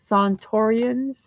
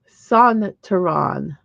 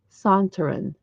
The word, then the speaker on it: Sontaran: And if you look up a picture of the Sontorians, I'll show you a picture. Sontaran, Sontaran, Sontaran is how you pronounce it.